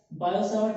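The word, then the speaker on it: Biot–Savart: सबसे पहले से बात करेंगे बायो सावर्ट लॉ। T silent है, बायो सावर्ट का नियम।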